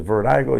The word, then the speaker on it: Virdiko: So people are like, man, they don't know how to pronounce it. It's Virdiko, you know.